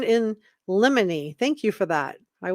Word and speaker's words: in limine: It's pronounced motion in limine.